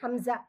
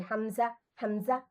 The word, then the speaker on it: হামজা: আর হামজাটা উচ্চারণ করবো আমরা হালকা একটু, মানে এভাবে থাকবে, নরম থাকবে, কিন্তু আমরা শেষের দিকে একটু ধাক্কা দেবো বা ঝাঁকুনি দেবো, যে হামজা হামজা, বুঝতে পারছেন?